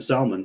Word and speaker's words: Salman: tal and Muhammad bin Salon which I also got to say that's the only time it's okay to pronounce the L in Salmon um yeah they don't